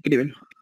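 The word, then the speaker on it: cribelo: ¿Es críbelo, esdrújula o críbelo? Como grave. Ajá, tal cual, críbelo. Está bien escrito, entonces no lleva tilde.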